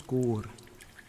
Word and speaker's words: Skor: My name's Skor. Yes, Skor. You spell that, hold on, let me remember common.